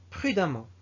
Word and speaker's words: prudemment: Ça veut dire, même s'il est écrit avec E, on le prononce A. Amant, amant. Exemple, savant, savamment. Prudent, prudemment.